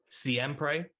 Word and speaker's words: Siempre: Going on to what you were just talking about and having good music, Siempre, is that the correct pronunciation of it? Yeah, that's right.